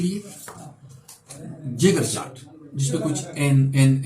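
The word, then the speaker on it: Jaeger: कुछ कहते हैं कि जे जो है ये साइलेंट है, एगर्स चार्ट है।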